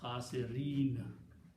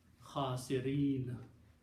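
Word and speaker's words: خاسرين: When you pronounce khasirin. Okay, in the Quran it is with a fatah on the noon. But when you stop, you pronounce fatah as a sukoon, khasirin.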